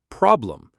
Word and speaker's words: problem: The word is problem. Stress on prob. So the E becomes a. Problem. Problem. Problem.